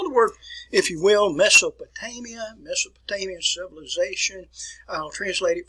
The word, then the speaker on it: Mesopotamia: So the area I'm going to be talking about is an area which is pronounced Mesopotamia.